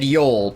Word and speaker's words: Yol: It is said yol, but uh pronouncing it's harder than it seems.